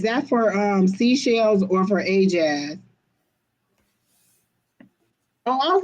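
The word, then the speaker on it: AyeJazz: When I asked her how to pronounce it, she just broke the two words apart and put A-Y-E and jazz. So Keena said, hey, as it's probably pronounced A as in hey, so A-Jazz.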